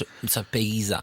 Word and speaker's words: Ibiza: It's Ibiza. Okay, Ibiza. go again. I took a pill in Ibiza.